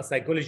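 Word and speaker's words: psychology: اي واحد نيتيف اوف انجلش لو قلت له سايكولوجي هيكتبها في اولها بي، وقلت له اكتب daughter هيكتبها فيها جي، ما بيقولش dog طر او بينطق سايكولوجي يقول بي سايكولوجي، ما حدش بيعمل كده.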